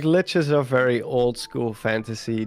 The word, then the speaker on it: lich: Like, I mean, I've heard of it before, but like I've never gotten that much information about the lich. Is that how you pronounce it, or the lich?